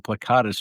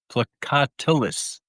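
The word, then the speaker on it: plicatilis: And with the large cypro roifers, the brachionis I I was calling plecatus for the longest time. They're plecatilus.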